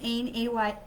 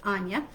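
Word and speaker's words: Áine: It says Ain, A-I-N-E, but she's actually pronounced Anya.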